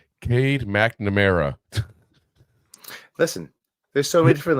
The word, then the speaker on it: Cade McNamara: Wasn't sure whether to start McCarthy or Clade McNorma at quarterback. Who taught you how to read names? Cade McNamara.